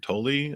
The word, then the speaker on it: Tolle: where we live um Eckert Tolle I think is how you say his last name t-o-l-l-e he has the